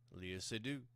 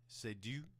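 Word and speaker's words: Léa Seydoux: be doing movies because Leah Seydoux. I think I'm pronouncing her name right. It's French, and I took 6 years of that, and I remember very little of it. But yeah, Leah Seydoux, Seydoux.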